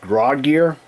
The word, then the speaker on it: Graugear: So up here we had this I think it's pronounced Grodge gear front panel 3 and 12 inch um USB hub.